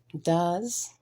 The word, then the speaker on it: does: pencil or pen, with a W being silent, does, where the E is silent, read, with the A being silent, know,